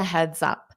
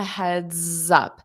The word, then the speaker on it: heads up: Just a heads up. So notice just a heads up. So that s you can hear it a little bit voiced sound right before the up.